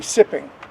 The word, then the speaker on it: Tsi-p'in-owinge: it called now well it's spelled t SII p i n and it's English would be sipping sipping yeah sipping what